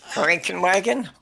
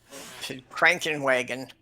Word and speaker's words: Krankenwagen: Frankenwagon? Say again. A bad-tempered badger. Krankenwagen.